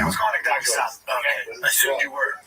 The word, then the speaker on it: Dagestan: I didn't say I was going to Dagestan. Okay. I assumed you were. Yeah, it's actually pronounced Dagestan.